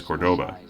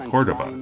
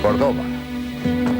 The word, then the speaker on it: Cordoba: And yes, that's Ricardo Montalban pronouncing this car's name as Cordoba, despite the fact that I'm sure he knows the name should be Cordoba, with the emphasis on the first syllable, not the second. Cordoba.